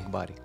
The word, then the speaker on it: Akbari: Akbari. Akbari, okay.